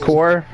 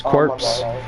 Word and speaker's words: Corps: Well, actually, it's pronounced core. Even though it says corpse. But it's still pronounced core. It's a really old terminology thing.